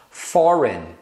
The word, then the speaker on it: foreign: tem ainda algumas palavras que terminam com GN e esse G é mudo Então você fala só o n Olha só foreign foreign tá vendo esse G você não pronuncia sign sign mesma coisa você só pronuncia o n final design design campaign campaign